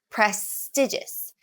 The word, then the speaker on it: prestigious: of words prestigious prestigious prestigious the emphasis on the second vowel prestigious women the emphasis